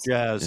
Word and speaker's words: Jazz: Jazz? I just call him Jazz. It's Jazz, exactly.